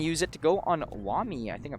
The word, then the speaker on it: Wamai: Vazdek's going to use it to go on Wami. I think I pronounced that right. Wamai.